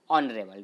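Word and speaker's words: honourable: देखिए ये क्या है ओनर है स्टार्टिंग है हा से लेकिन हा यहां पे क्या राहत है ये साइलेंट है तो इसका जो प्रनंसीएशन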